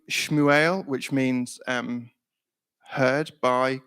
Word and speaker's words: Shmuel: he's called Samuel in Hebrew it's the name shmuel which means um heard by God or heard